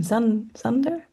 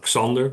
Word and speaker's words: Xander: Zander? Yes, that's completely fine. It's in Dutch, it's pronounced Xander, but Zander. nobody speaking English pronounces it that way. So this is the international way of pronouncing it.